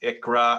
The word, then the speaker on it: ICHRA: what is a nikra it's an icra pronounced that's kind of taking on that name in the industry it's pronounced icra i-c-k-r-a-h it stands for individual